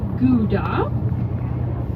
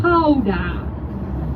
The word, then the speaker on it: Gouda: You probably pronounce it as Gouda. Am I correct? Yes. Yep. Right, but in Holland we say Gouda.